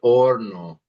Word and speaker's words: horno: And then let's try el horno. El horno. Yeah, good. That's the oven. And good job not pronouncing the H. Remember, H's are not pronounced in Spanish.